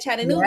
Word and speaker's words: Chattanooga: Chattanooga, Yes, Tennessee is in the Tennessee.